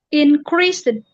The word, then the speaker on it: increased: Increased. No, karena e-nya tidak diucapkan. Dan ini karena s karena s is voiceless. D-nya itu diucapkannya dengan t increased.